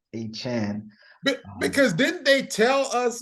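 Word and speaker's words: De'Von Achane: new pronunciation it's Devonte you thought it was a chain but it's a Chan because didn't they tell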